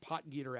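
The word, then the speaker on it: Potgieter: uh not it doesn't uh slide off the tongue pot and when you when you look how how it's spelled you you might not get potter out of that but the guy from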